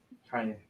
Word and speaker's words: Kanye: Kanye. Kenny. Kanye. Oh, I'm from Ohio. We say Kenny. That's how we pronounce it. Well, I don't care where you're from. You pronounce my name Kanye.